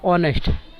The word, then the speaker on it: honest: Here h is a consonant, but when we say the words, it comes honest, and h is a silent, so we use an n.